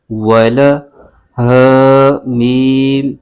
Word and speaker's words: وَلَهُمْ: ہے، اس کو ہا کے ساتھ ملائیں گے۔ ہجے یوں کریں گے، و زبر و، لام زبر ل، ول، ہ میم پیش ہم، ولہم، ف یا زیر فی، ولہم